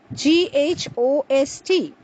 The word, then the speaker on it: ghost: So the first word, GHOST, is pronounced as ghost, not ghost, as some of us incorrectly pronounce.